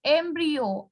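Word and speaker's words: embryo: एम्ब्रियो कहते हैं, it's pronounced as एम्ब्रियो।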